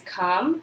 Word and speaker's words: come: called number nine has come remember we don't say the e on the end but we spell it with an e c om e c